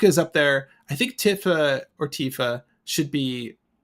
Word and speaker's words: Tifa: I always said Tifa growing up, and I think it's pronounced Tifa. So I'm just trying to go with Tifa. Say Tifa. The more commonly accepted one is Tifa.